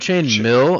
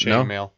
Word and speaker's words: chain mail: Oh, you're thinking chain mail, not chain mail. Okay, I see what you mean. Isn't it chain mill? Like, isn't it MIL? No, it's chain mail.